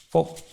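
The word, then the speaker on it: feu: silleta en la espalda el fuego en francés se escribe f x que se pronuncia fo y ellos gritaban los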